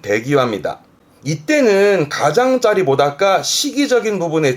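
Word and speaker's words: 出際: 그래서 발음은 대기와입니다.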